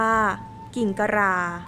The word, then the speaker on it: กิ่งกะหร่า: มี ลักษณะ คล้าย นก ซึ่ง จะ ออก เสียง ตาม สำเนียง ไท ใหญ่ ว่า กิ่งตะรา เรียก ตาม ภาษา พื้น